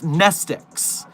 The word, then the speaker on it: Mnestics: would get confused with nestix. Nestix actually starts with a silent M for some reason, but nestix are the reverse amnestics.